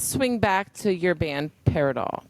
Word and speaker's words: Paridol: So, let's swing back to your band, Paridol. Paradol.